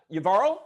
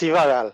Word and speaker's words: Yvarro: Yvarl, if I'm pronouncing your name right, do you want to chime in too? Yes, sir. It's Ivaral.